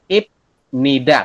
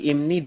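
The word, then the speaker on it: 입니다: adalah yang bepnya kan kalau die Eja ini IP Nida kayak gitu ya tapi kalau di aturan baca kita bacanya bukan ibnida adalah Im seperti ini kenapa kok jadi imnid penjelasannya adalah karenai ada di akhir ketemu dengan huru vokal eh kon makanya yang berubah jadi m seperti itu ya Ini imid seai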